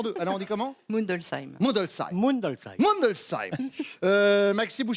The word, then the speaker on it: Mundolsheim: Je vais me lancer dans la prononciation de cette ville alsacienne parce qu'il faut que je m'y mette petit à petit. Mundolsheim. Non, Non. J'avais une chance sur deux. Alors on dit comment? Mundelsheim.